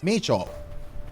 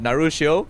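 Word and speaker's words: 鳴潮: The name Narushio itself wasn't originally his. It came from the Wuwa community, as a common though technically incorrect way to pronounce the Japanese name for Wuthering Waves, Meicho.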